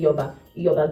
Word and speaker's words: Iyoba: I used to pronounce it as Iyoba, but it's actually Iyoba Girls College.